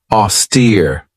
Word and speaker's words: austere: this one right here auster this has two syllables and the stress is on that second syllable with that long e sound auster if somebody or something is